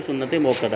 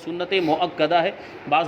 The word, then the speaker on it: سنت مؤکدہ: پڑھی جاتی ہے وہ سنت موقدہ ہے۔ یہ لفظ اور یہ تلفظ بھی آپ سدھار لیں، سنت مؤکدہ ہے، بعض لوگ سنت موقدہ بول